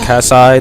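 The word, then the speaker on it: Teras Käsi: Star Wars masters of teras Kasi or casai depending on how you want to pronounce it however a lot of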